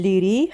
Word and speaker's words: Laoghaire: get something for lunch is irish that's why it's pronounced differently to the way it's spelled the port of the leery has two massive piers